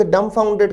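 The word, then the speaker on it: dumbfounded: इसके अतिरिक्त शब्द डम फाउंडेड में लेटर बी को साइलेंट रखा जाता है। उच्चारण या प्रोनंसिएशन होता है डम फाउंडेड।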